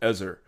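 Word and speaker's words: עזר: It is an awful translation of the word ezar or azir. I've heard it pronounced both ways. I'm going to pronounce it ezar.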